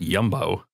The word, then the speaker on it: Jumbo: of freak dutch supermarket there's also jumbo that's pronounced yumbo yum yum i like